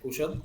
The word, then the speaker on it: Couchot: Es francés, Cuyot, Cuyot. pero argentinizado.